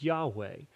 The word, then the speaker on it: Yahweh: And uh this name is uh we pron sometimes it's it's written Jehovah because of different language things but probably the best pronunciation is Yahweh.